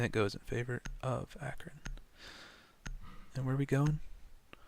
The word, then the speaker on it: Akron: And it goes in favor of Akron. And where are we going? Statuary. Statue. Sweet. Akron? Akron? I don't know. It's pronounced Acorn.